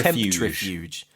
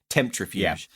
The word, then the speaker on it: Temptrifuge: Although I've read interviews with the director where it's written like it's said in the film, like temptri tempuge. Temptrifuge. So I think we should go with how they say it.